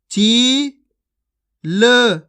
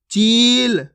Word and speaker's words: चील: उच्चारण करके पढ़ा है आपको टिम खिर चिल इस प्रकार से नहीं पढ़ना खीच खीच के पढ़ना है चील टीम खीर आप हमेशा एक बात